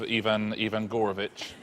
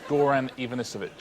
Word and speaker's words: Goran Ivanisevic: Well, let's clear up the mysterious case of Ivan Gorovich. You did get all the right syllables, just not necessarily in the right order. It's called Goran Ivanisevic.